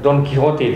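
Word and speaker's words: Don Quijote: apa yang terkenal dari servantes Don k eh don quiijote don dan ya orang Spanyol membacanya Don quiijote oh D Kote di Indonesia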